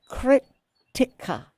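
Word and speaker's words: Krittika: And that's the Kritika. Is that how you say it? Yes. Krttika.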